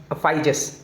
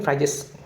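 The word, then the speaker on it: Phryges: ये था फाइजेस। ठीक है, अब इसका प्रोनाउंसिएशन क्या है समझ नहीं आता, लेकिन फ्राइजेस करके कहते हैं।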